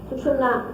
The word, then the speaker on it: सुषुम्ना: कोई सुषुम्ना कहते हैं, कोई सुषुम्ना कहते हैं, तरह तरह के इसके प्रोनाउंसिएशन है, लेकिन सुषुम्ना इसका सही माने में प्रोनाउंसिएशन है, जो कि आप मंत्र में भी उच्चारण कर सकते हैं।